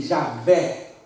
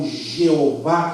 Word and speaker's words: Javé: representado por y hwh ao invés de eles disserem E a ué seria a pronúncia aproximada ou e Javé ou Jeová que a forma grega e é incorreto ele substitui por adanai